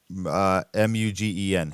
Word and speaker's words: Mugen: The T-Commander, M-U-G-E-N.